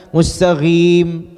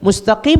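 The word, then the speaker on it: مستقيم: shod sin kemudian qof ada orang baca qofnya misalkan mustaghim ghim qofnya berubah jadi ghoin ihdinash shiratol mustaghim merubah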